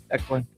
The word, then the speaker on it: Declan: It's spelled D-E-C-L-A-N. Declan.